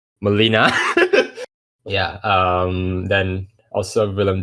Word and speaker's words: Molina: some other um people alfred manila molina i'm sorry if i butchered your name sir alfred molina yeah um then also